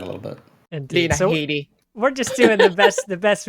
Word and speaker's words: Headey: Carl Weathers, Lena Headey. Lena Headey. Is that how you say it? Headey? It's not Headey? I think it is Headey. I'm pretty sure I've heard her say her own name as Headey.